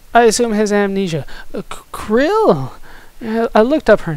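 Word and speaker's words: Krile: crew grandpa it is krill i looked up how to pronounce her name in it i'm gonna go with krill i'm so glad you're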